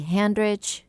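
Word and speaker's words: Handrich: to facebook Messenger and my name is hand rich it's spelled exactly like it sounds H a and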